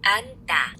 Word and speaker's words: 앉다: So listen carefully and check the final consonant pronounced. So we have these double consonant endings over here, and we want to see which one we can hear. 앉다. 앉다. So we hear the N consonant.